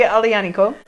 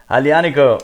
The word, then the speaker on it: Aglianico: in a second yes i love alianiko spelled with the g by the way um a g just messing with you just one of those good italian spellings to to mess with the with american english speakers or whatever but um